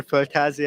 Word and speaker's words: Földházi: You know, at the beginning, I was doing the Spanish pronunciation, Yeah. Földházi. Földházi, And yeah, no, it's very different. yeah. Now you're doing it the Hungarian way.